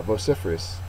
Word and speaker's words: vociferous: themselves would be vociferous it is an adjective second syllable is accented the synonym is uus